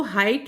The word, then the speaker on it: height: तो हाइट में हमारा G और H ये दो लेटर साइलेंट है।